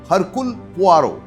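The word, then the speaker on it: Hercule Poirot: আপনারা বুঝতে পারবেন না উচ্চারণটা হবে হারকুল পোয়ারো বা পোয়াও তিনি বেলজিয়ান কিন্তু তিনি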